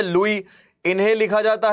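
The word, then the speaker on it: Louis: इनको पूरा लिखा जाता है अगर तो तो हम ऐसे लिखते हैं भैया आपने देख ही लिया spelling L ओ यू आई एस। ठीक है? ये इन्होंने लिख लिया। अब यह कौन से हैं बेटा? लुईस 16। लुई 16।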